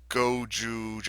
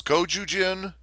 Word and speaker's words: Gojujin: Yeah, there was Goju. Oh, I might have been saying the name wrong the whole. Oh no, yeah, it was Gojujin, and there was Gokaio.